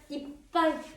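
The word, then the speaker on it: いっぱい: 파하면 좋은데 실제로 발음하면 파피푸페포는 단어의 중간에 나오면 약간 쌍비읍 발음한다. 가깝다. 액센트 주면서 읽어보겠습니다. 이빨, 이빨, 이빨 쿠다사이.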